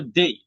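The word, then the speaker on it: they: এটা উচ্চারণটা আমরা অনেকে দে বলে থাকি, কিন্তু উচ্চারণ হবে দেই।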